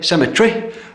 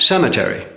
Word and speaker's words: cemetery: Where the English say cemetery, the Americans have cemetery. English laboratory, American laboratory.